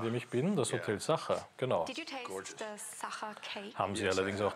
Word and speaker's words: Sacher: Wie spricht man das Hotel aus, in dem ich bin? Das Hotel Sacher, genau.